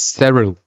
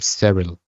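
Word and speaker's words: Syril: little different this is true oh and it's pronounced Cyril I noticed that his mom his mom kept calling him several several all right spell zero but yeah so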